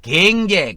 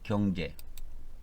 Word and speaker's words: 경제: 대통령이 그런 말을 말했죠 그분은 경제라고 발음이 안 돼요 경제를 살려야 됩니다 여러분 갱제 갱제 그래요 갱제 그게 이제 경상도 사람들의 발음인데 어 저는 정확하게 됩니다 경제 그러니까 믿음으로 구원받고 행위로